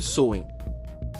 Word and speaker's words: Samhain: com o festival de Samai séculos atrás imagina que estamos voltando no tempo para centenas de Anos Antes do Halloween moderno até um festival antigo chamado samin pronuncia-se soen era assim que tudo